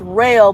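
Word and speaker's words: Roehl: for a company called it's pronounced rail but it looks like it's spelled roll ro eh else so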